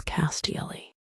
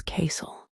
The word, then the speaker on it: castle: For example, castle, you may read it as castilly, but actually it is castle. The T is silent.